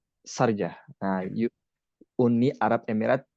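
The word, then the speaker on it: Sharjah: Tulisannya sarja, bacanya Sarja apa sarja nih, Kang? Sarj. Sarj. Sarjah.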